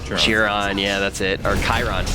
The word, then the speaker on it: Chiron: got uh what's the God's name is cherro churro oh now I'm forgetting how to say it